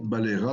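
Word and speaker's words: balaiera: Par exemple, Ahmed balayera demain. Balayera. On n'entend plus le E, il est devenu muet et le Y est changé en I.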